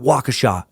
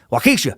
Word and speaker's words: Waukesha: torso and I think I finally got that City right because I was just in Madison Wisconsin where they're like it's not Waukesha you dummy I heard that a lot of people well Keesha well Keesha County Circuit Judge Michael